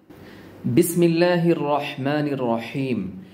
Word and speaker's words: বিসমিল্লাহির রাহমানির রাহিম: কিভাবে করছি রহ রহ বাতাসের সাউন্ড পাচ্ছেন তো বিসমিল্লাহির রাহমানির রাহিম রহিম বলার ক্ষেত্রে বড় একটি ভুল আমরা করে